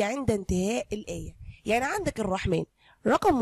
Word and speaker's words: الرحمن: في ألف صغيرة محطوطة فوق السين، يعني تحس إن هي ما بين السين والنون. طيب أنت بتكتبها عادي ما عدا كلمة طبعا اسم الله سبحانه وتعالى الرحمن، لأنها تنطق ألف وتكتب بالمنظر ده بالظبط.